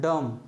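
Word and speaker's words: dumb: बी क्या है silent है बी क्या है साइलेंट है फिर उसके बाद देखिए डी यू एम बी अब इसको क्या पढ़ते हैं डम क्या पढ़ते हैं डम डम मींस होता है गूंगा डम मींस क्या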